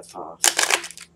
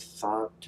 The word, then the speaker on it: Thoth: maybe thought you know people pronounce it different ways i don't think it matters in this way but i'm going with thoth i mean it sounds a little bit cooler to me anyway now according to